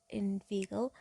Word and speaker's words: inveigle: Say in vain, nay, but inveigle, mind that make the latter rhyme with eagle, mind meandering but mean,